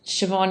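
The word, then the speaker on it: Siobhan: a neighbor and and shobon is an Irish name uh which is quite common in Australia now um and it's spelled o b h n um and my my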